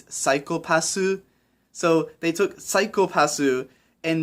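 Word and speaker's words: サイコパス: The joke is that the way you pronounce psychopath in Japanese is psychopassu.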